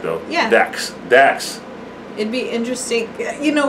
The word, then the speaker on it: Dax: Anyway, I want to listen to more Dak, though. Yeah. Dax.